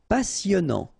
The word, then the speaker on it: passionnant: Passionnant. Final T not pronounced.